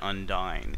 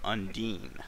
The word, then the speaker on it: Undine: yeah okay off topic I've always called Undine undying and in this game they call her Undine now I've been pronouncing it wrong my entire life well I know I've